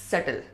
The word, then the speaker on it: subtle: SUBTLE में B silent है, सटल नहीं होता है, सटल।